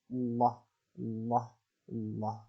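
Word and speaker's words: الله: Yaitu lafaz Allah yang dibaca tebal jika lafaz Allah didahului oleh huruf berharokat fathah dan dhammah, maka dibaca tebal. Allah, Allah, Allah.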